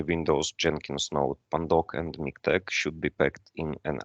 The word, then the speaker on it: MiKTeX: moving next it's miktek look on the correct pronunciation it's miktex like latex it's not miktex or latex uh it's